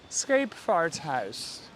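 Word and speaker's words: Scheepvaarthuis: in Dutch in Dutch in Dutch is the scape fart house okay scape fart house is how you say it and uh it does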